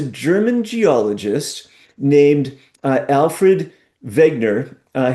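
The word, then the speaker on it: Wegener: geologist named uh Alfred Vegner uh his name spelled with a W but it's German so I assume it's pronounced Vegner.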